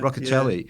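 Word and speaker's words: Rocchiccioli: um Cory how do you say his name rock roell yeah Rockell yeah he's being rested who's the preferred spinner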